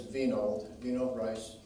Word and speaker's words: Winold Reiss: was nappy beetles and his pronunciation is vinoth vino rice he had a deep